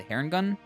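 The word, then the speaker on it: Harengon: rabbit race, which is now called the Herringun. I imagine is how you pronounce it.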